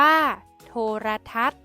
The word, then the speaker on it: โทรทัศน์: เทศ บรรยากาศ อ่าน ว่า บรรยากาศ โทรทัศน์ อ่าน ว่า โทรทัศน์ ทิว ทัศน์ อ่าน ว่า ทิว ทัศน์ คำ ใน มาตรา ตัว สะกด แม่ กด ที่ มี ษฤาษี เป็น ตัว